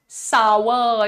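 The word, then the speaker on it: sour: सूप ठीक है तो यहां पर आपका प्रोनंसिएशन है सावर इट इज नॉट सार हॉट एन सार नहीं इट इज हॉट एंड सावर हॉट एन सावर ठीक है हां श्रेयष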